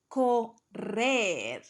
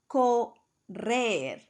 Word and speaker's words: correr: Correr, correr. Don't forget to double your R.